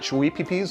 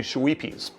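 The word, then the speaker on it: Schweppes: It's not Shweepies like I've been pronouncing it. It's actually Shweepies.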